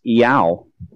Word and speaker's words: Iau: It's pronounced Iau, I-A-U, and it does mean Yahweh.